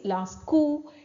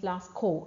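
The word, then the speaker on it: Lascaux: to uh Lasco okay French pronunciation is lasu English pronunciation is Lasco ex is silent okay see here you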